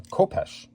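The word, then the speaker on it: khopesh: Oh, it's a coph with a kh. The H is silent.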